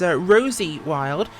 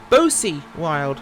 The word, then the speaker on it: Bosie Wild: Sorry, I pronounced that driver as Rosie Wild. It is in fact Bosie Wild, but that's a B. So not Rosie, no.